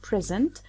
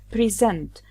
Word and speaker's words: present: Actually, we get the noun when we stress the first syllable, so a word like "present", it's 'PREsent when we stress the first syllable which means a gift or present time, in the 'PREsent. But when we stress the second syllable "SENT", it gives the verb form pres'SENT. So, I say: I have something to preSENT.